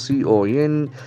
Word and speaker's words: consensus: Then comes a beautiful noun, consensus, C-O-N-S-E-N-S-U-S. That is a very interesting word. Consensus. Consensus. The accent falls on the second syllable, consensus.